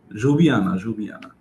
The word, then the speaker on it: Ljubljana: Was it Ljubljana? Yeah. Ljubljana. That's how they pronounce it in Slovenia.